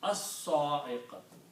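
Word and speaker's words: الصاعقة: But sad is a shamsi letter. It will kill the sound of lam and it will be pronounced as-sa'iqatu. As-sa'iqatu. So there is a shutdown sad and lam will not be pronounced.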